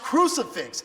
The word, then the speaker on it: crucifix: I know you're an atheist, but it's pronounced crucifix, YOU STUPID YO, was he actively trying to Again, explain this in the comments for me, EFA.